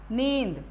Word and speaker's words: नींद: नींद, अब आप देखिए यहाँ पे इस अनुस्वार का सही प्रोनाउंसिएशन, अगर मैं नहीं लगाऊंगी तो नींद हो जाएगा, लेकिन अगर मैं इसे अंग की मात्रा अनुस्वार लगा दूंगी तो ये नींद, सही प्रोनाउंसिएशन इसका नींद।